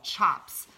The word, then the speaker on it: tjaps: are created into what we call chops and we say it's ch Oh PS but it's spelled tja PS now what a chop